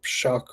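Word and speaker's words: Shough: um you could definitely see or uh Tyler shuck or whatever however the hell you say his name it is shuck you're right boy ugly um yeah I like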